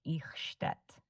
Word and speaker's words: Eichstätt: It's pronounced Eichstätt, with the ch sound similar to the ch in the Scottish word loch.